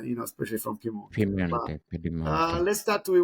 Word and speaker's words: Piemonte: pronunciation, Shafi? Piemonte, I'm Italian. Piemonte.